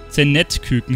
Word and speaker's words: Zenetküken: Da haben wir das Zend-Küken. Und dann schauen wir mal, wie das ausguckt. Zend-Küken, habe ich mich vertippt? Zend-Küken heißt es. Okay, ich habe es jetzt die ganze Zeit falsch gesagt.